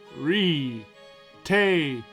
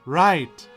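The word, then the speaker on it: rite: Re-te of passage. What? Re-te? Right. It's pronounced right.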